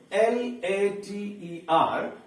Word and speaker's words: later: So its pronunciation is later. Here you find that R is mentioned in bracket, means that R sound is hidden, that is pronounced, but it is pronounced very little.